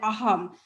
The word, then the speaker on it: Assam: I should call it Aham, because the S is silent.